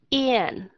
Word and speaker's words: Ian: Ví dụ như bạn muốn đọc cái chữ Ian, yeah, Ian, có nghĩa là y trước nè, rồi bắt đầu hạ cái hàm xuống Ian, chứ đừng có